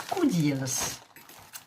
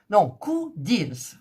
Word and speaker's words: Coodeals: C'est le site, alors je crois que ça se prononce Codeals. C'est deux O, donc avec un L, Codeals, voilà.